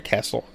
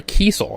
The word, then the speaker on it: Kiesel: lady her name is Laura castle Laura Kiesel I'm sorry I should actually pronounce her name correctly in on help a